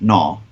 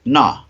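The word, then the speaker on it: mná: spelled mna but i think it's pronounced naw would you be going into the men's the women's or the disabled toilet oh no who knows going into a toilet in ireland okay and the door says nah nah m-n-a i would just look at gaelic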